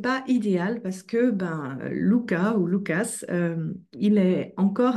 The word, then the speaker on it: Lucas: un homme qui s'appelle Lucas ou Lucas je sais pas comment vous le prononcez moi je suis Auque donc on prononce les S et elle a une